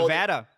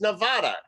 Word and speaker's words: Nevada: call it nevada but it's nevada come on i mean that that should be the pronunciation and you can't say that you can't say nevada they can't they don't it's a faux pas to pronounce the name properly it's a spanish word yes i mean it's